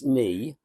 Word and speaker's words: Nienaltowski: It's 4 syllables. I'm glad it's simple. That's all. It's Nienaltowski.